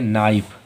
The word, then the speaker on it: knife: KNIFE, के जो है वो एन के पहले आ रहा है इसलिए के साइलेंट, इसे क्या पढ़ेंगे? नाइफ।